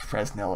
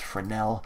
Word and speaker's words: Fresnel: an input for now it's not pronounced Fresnel it's Fornell what this will do